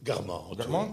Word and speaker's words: Guermantes: Vers la fin du premier chapitre du côté de, comment on prononce ça, Guermantes? Guermantes, oui.